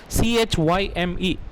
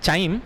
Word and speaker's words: chyme: You can see their spelling, they have given CHYME. It is not pronounced as chyme, it is pronounced as chyme only.